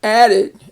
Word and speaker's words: added: ed can have the, when you add it to a word that ends in a d or a t, a d or a t, it will make a separate syllable and it will be added. And you can actually test that with your hand under your chin, and you say added. That your chin touches your hand twice. Added.